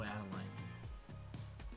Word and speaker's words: Adeline: Or Adeline. Adeline. Adeline. Oh, add a line.